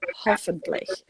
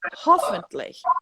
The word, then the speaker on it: hoffentlich: So I was putting the accent on the wrong part of the word. I was saying hoffentlich, and I should have been hoffentlich. So if you listen to